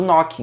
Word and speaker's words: knooking: Que a gente pronuncia knocking mesmo tendo o K na frente, você encontra no e-book.